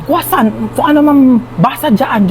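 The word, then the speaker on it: croissant: Croisant daw. Croisant. Ah quasant po. Croisant. Kwasan.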